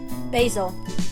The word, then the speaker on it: basil: So I know we pronounce the vowel once is 2 letters down is another vowel. So we pronounce the A in basil because there's an I that follows the S.